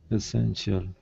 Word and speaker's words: essential: So this is essential. Essential. Yeah. And the emphasis is on this syllable, so essential.